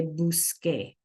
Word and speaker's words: busqué: But because it has that C followed by this E, you guys, we need to keep the K sound. So we would spell it busque, right? So the C in buscar becomes a QU in order to keep the K sound. So the spelling changes so that we can say busque.